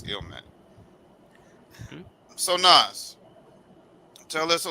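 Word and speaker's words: Illmatic: Ilmanic in the I know I mispronounced that. It's Ilmatic.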